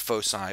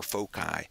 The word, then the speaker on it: foci: The two, and you can pronounce it foci or foci.